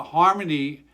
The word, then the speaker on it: Xarmony: on instagram and uh harmony uh is spelled with an x and for what i understand that that x is uh a mongolian uh it sounds like h and mongolian that's uh my two